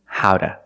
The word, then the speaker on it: how to: Or pronunciation, howda, howda. Why do we say howda? Because the T is between vowels, phonetically.